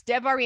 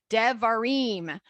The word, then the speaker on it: Devarim: If you see an I, it's an E, like a long E. So Devarim. So Bereshit, instead of, we don't want to say it the other way.